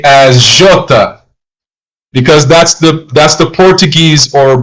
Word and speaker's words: jota: Now, sometimes I tend to pronounce the letter J as Jota because that's the Portuguese or Brazilian pronunciation.